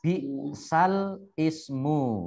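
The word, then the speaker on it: بئس الاسم: Ini tulisannya bi'sal ismu ya. Tulisannya bi'sal ismu tetapi membacanya bi'salismu. Ya, membacanya bi'salismu.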